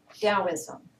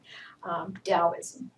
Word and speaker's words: Taoism: before the common era taoism spelled with a t but pronounced with a d depends on what dialect you're working with taoism infinity in your hand